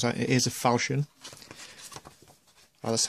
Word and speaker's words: Falchion: It is a Falchion. Well, that's how he pronounces it anyway.